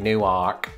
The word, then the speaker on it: Newark: by extension new jersey i don't think it's gonna be pronounced like it is in those places though and i have heard